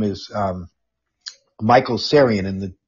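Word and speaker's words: Tsarion: name is um michael sarian and the the t is silent he's originally irish but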